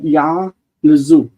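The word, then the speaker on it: יַעְלְזוּ: And then suddenly 149:5, we've got ya'lezu. Ya'lezu. The yod with an ayin closing the syllable.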